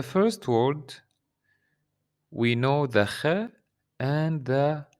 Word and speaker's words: خ: Third letter in this group is kh. Kh. So this letter, it's kind of like when you clean your throat.